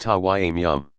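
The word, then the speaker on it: تيمم: They usually use tap water, but under peculiar circumstances even sand or earth is acceptable, in which case it is called tayammum, pronounced tawayyum.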